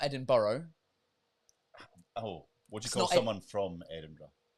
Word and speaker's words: Edinburgh: It's Edinburgh. Edinburgh. No, Edinburgh. Edinburgh. There we go. All right. It's not Edinburgh.